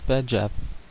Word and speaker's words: VEGF: vascular endothelial growth factor abbreviated vegf and pronounced VF these chemicals stimulate the